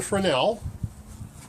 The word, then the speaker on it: Fresnel: And I'm not going with a Fresnel. Yes, I said Fresnel, not Fresnel, because that is the proper way to say it.